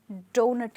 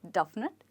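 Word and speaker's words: doughnut: सिर्फ ओ आता है बट इन दोनों को हम डोनट कहते हैं नॉट डफ नट डोनट हो सकता है आपने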